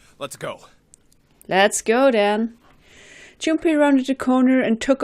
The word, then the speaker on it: Junpei: Me too, because why are you writing Junpei with an M all of a sudden? I know when you pronounce it, it sounds a little bit like an M, Junpei, but it's actually an N, Junpei.